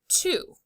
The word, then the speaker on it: two: This is the heart word two. The O makes the oo sound.